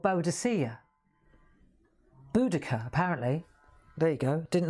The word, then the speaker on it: Boudica: Apparently it was the Romans, the enemy, who called her Boadicea because of the way her name is spelt. Boadicea, right? I get it. But apparently her name is Boudica.